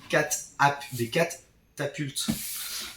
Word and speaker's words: catapultes: On va commencer par le jeu des catapultes. Donc il y a deux T, c'est important de le prononcer les deux.